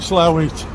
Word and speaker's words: Slaithwaite: pronounce it how do we pronounce it michael the locals call it slow it the london the locals